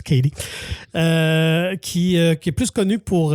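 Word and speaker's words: Cady: Ben, t'as Aguri Rice qui reprend justement le rôle de Lindsay Lohan, de Katie, ou de Caddy, mais qu'on prononce Katie, qui est plus connue pour la Betty Brant dans les nouveaux Spider-Man.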